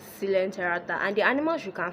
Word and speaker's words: coelenterata: I used to pronounce this as coelenterata, but that's actually wrong. It's coelenterata, and the animals you can find under here are the hydra and the sea anemones.